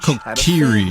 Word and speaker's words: Kokiri: Oh, Kokiri. That's how you pronounce it.